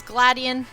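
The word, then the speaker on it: Gladion: Team skull this is gladian I think that's how you say his name Sounds Like Gladiator but he's like this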